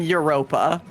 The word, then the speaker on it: Europa: It's the moon Europa. Isn't that spelled with a Y?